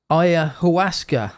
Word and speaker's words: Ayahuasca: We're talking about Ayahuasca. Am I pronouncing that correct?